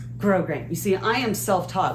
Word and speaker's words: grosgrain: Today's project is a 4-gore silk skirt with grosgrain, not grosgrain, grosgrain.